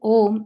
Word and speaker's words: Om: let go of everything the sound ohm as i said is a combination of three syllables that manifests in us as a u and ma so om is the